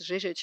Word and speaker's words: Žižić: Yes, Žižić is how you pronounce the last name, and welcoming us with her Dobro došli.